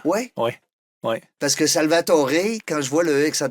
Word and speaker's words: Salvatoré: prénom de mon grand-père il y a pas d'accent aigu non mais ça se prononce Salvator B oui fait c'est